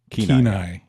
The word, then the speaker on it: Kenai: Kenai.